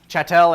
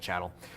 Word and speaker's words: chattel: personal property chattel yes chattel and I've always pronounced it wrong I've always said Channel so you need to